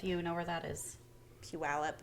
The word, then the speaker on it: Puyallup: know where that is Puyallup Puyallup when I moved here I had no idea how to say that yeah that's definitely a local thing you have to learn I think I said pugula yeah it's no one